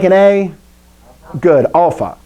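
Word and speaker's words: ἄλφα: like an a good alpha alpha so it's the same sound this is kind of tricky but if you said this letter if you know this letter say that one beta listen to how you said that beta ah there's your sound so these letters you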